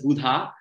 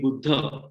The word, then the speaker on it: Buddha: Even Buddha, people pronounce it as Buddha, but it's actually Buddha.